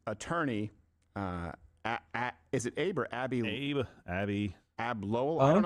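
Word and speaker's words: Abbe: I am assuming that it's spelled A-B-B-E and it's pronounced Abby.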